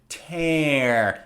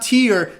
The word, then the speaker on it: tear: this is to tear also pay attention to the pronunciation tear it's not tear tear is the liquid coming down from your eye when you're sad that's tear this is tear so you might go